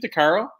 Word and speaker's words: Decaro: I should have asked you this previously but pronunciation of your last name is it Dar Caro yes thank you okay I get lucky I'm